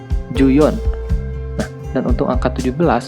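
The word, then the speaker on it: 十四: Misal, untuk angka 14 menjadi juyon.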